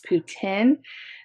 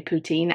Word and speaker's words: poutine: friend darlene too that it's putin that you guys call it putin and in america we say poutine i don't know i'm gonna defer to the canadian pronunciation poutine so basically if you've